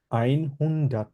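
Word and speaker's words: einhundert: এর উচ্চারণ কি হবে 100 এর উচ্চারণ হবে আইন হুন্ডাট ইংলিশে আমরা বলি 100 যার মানে বলা হচ্ছে হুন্ডাট আইন হুন্ডাট ঠিক আছে ওকে তাহলে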